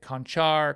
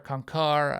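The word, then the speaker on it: Konchar: Sacramento I got John concar so I love Santa's name some people say conchar kankar I I like to say it like a conquistador I'm taking him um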